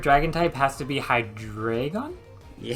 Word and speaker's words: Hydreigon: type has to be high drag on yeah high drag on that's how you say it trust me I